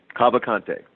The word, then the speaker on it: Cavalcante: 43, is it Cavalcante? Cavalcante, that's correct.